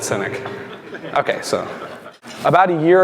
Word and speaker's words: SYNEK: wow okay how many people knew how to pronounce cynic before I just said cynic okay so about a year ago uh we